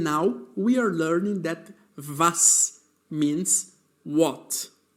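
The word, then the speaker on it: was: And now we are learning that vas means what. Note that the letter W in German has a V sound.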